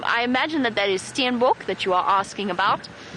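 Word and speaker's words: steenbok: species and St I imagine that that is Stan book that you are asking about so you spell it s t e n b k Stan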